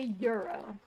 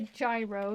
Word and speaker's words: gyro: My euro. That's what it is. It's a euro. My brain wants to call it a gyro because it's GYRO. Oh my gosh, he had to chug as much?